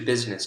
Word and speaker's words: business: not always the same business has two syllables in the spoken form but if you look at the spelling there are three vowel sounds right so when it's written three syllables when it's spoken two syllables english right it's uh